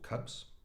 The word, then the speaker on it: Kubb: ree from King cub Cub is pronounced cub in Scandinavia is an